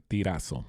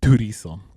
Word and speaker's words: Turizo: And the song is called Inglés en Miami, featuring Manuel Tirazo. No, sorry, Turizo.